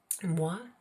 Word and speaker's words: mois: Mois is the month. So it sounds like the word moi, which means me, but it's got an S at the end.